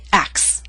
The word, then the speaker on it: acts: Instead of acts, we say axe.